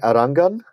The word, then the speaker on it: Arangan: Arangan. Arangan. So, gun. Like, I remember, all right, how about the Arong, which is the shop in Bangladesh, they sell guns.